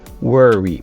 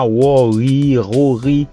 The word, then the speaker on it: worry: Le OR, c'est comme un E, comme word. Donc, tu dis worry. Pas rory, c'est worry.